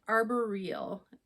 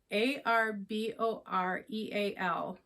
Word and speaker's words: arboreal: I said arboreal, ARBOREAL, and I think it's pronounced arboreal.